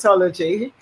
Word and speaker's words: Soulogy: Soulogy.